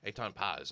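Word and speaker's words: Etan Patz: Eitan Paz, I think is how you pronounce it.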